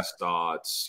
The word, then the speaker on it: Stotts: He said people would sometimes think I was like German, and he's like Rusty, yeah. Stotts, you know, and like all you know, there's all these kinds of different, you know, frenetic pronunciations of what people thought his name was, but it's very simple actually.